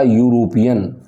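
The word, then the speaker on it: European: अब देखिए, हिंदी का, अंग्रेजी का क्या है, ये वोवल है ई, लेकिन जब हम इसका प्रोनाउंसिएशन करेंगे तो क्या आएगा, यूरोपियन।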